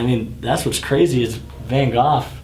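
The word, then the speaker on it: Van Gogh: that's what's crazy is Van goof and that's how you say it not go it's goof nobody bought his paintings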